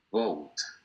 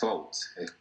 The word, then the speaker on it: vote: El de acá es vote, casi como una F. No es vote. Digamos que si yo meto en una licuadora una B, la licúo con una F, obtengo el sonido de acá. Vote. Vote es un híbrido.